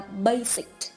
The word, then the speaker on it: basic: ý D đọc là basic. Ta có thể thấy ý A, ý B, ý C, âm S được đọc là z, còn ý D, âm S được đọc là s.